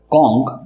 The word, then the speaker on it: conk: कॉन्क, कॉन्क, दोनों words के pronunciation same है।